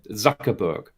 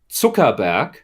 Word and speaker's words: Zuckerberg: Zuckerberg, which is a wrong pronunciation. It's a German Jewish name, which means Zuckerberg, which means sugar mountain.